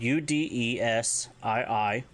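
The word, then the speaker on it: udesii: So if you want to tell someone to calm down or take it easy, it's udesi, spelled U-D-E-S-I-I, udesi.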